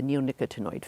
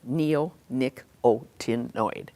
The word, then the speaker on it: neonicotinoid: Right now, in fact, imidacloprid is a member of the neonicotinoid family.